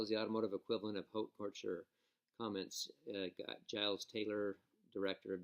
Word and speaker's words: haute couture: Haute couture. Haute couture. Okay." You read the sentence. Read the sentence because I can't say a word. Sweptail is the automotive equivalent of haute couture.